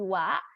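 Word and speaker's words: は: huruf H tapi kenapa dibaca menjadi wa karena dia berfungsi sebagai partikel menjadi partikel itu kayak kalo bahasa Inggris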